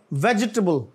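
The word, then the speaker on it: vegetable: एस यूलेस और आगे वेजिटेबल वेजिटेबल नहीं वेजिटेबल वेजटेबल और आगे जो है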